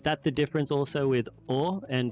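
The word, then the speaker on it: を: I should always just say or, not or. Exactly. Right. You can drop the W sound. It's pronounced simply as O.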